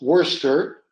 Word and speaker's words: Worcester: Like if you write what has to be pronounced as Worcester, you have to write it down as WORCESTER.